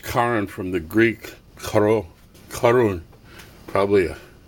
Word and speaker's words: Charon: Pluto and Charon, or Charon. It's pronounced Charon from the Greek Charun, probably a Chi.